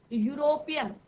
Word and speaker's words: यूरोपियन: ठीक है, जैसे अभी मैंने बताया यूरोपियन, यू ई है, वोवल से शुरू हो रहा है, परंतु प्रोनाउंसिएशन किसका हो रहा है, लॉन्ग यू का, यूरोपियन, राइट।